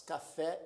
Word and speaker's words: café: Café, a última sílaba é a mais forte, fé, portanto, é uma palavra oxítona.